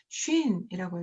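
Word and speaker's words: שׁ: 그래서 이것은 쉰이라고 읽고 이것은 씬이라고 읽습니다.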